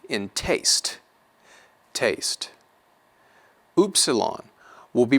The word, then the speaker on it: upsilon: Upsilon will be pronounced like the U in mule, U, mule, mule.